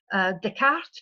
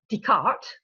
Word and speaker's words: Descartes: You have to know that in English people pronounce Descartes, Descartes, and Descartes sounds like the cart. So it would be pronounced, is that putting the cart before the horse?